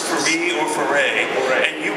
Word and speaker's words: Foree: Foray. And you pronounce Foray? Foray. Accent on the second syllable?